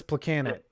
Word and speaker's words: Plekanec: Well, it is a miracle that I could say Thomas Plekanec. So you just accept that. Thomas Plekanec. Plekanec. You have to say it phonetically.